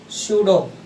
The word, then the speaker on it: pseudo: ठीक है, क्या है, एक तो बोला मैंने नोबल गैस इलेक्ट्रॉनिक कॉन्फ़िगरेशन, एक हम बोल रहे हैं बेटा सूडो, PSEUDO, सूडो, P silent है बेटा, नोबल गैस इलेक्ट्रॉनिक कॉन्फ़िगरेशन।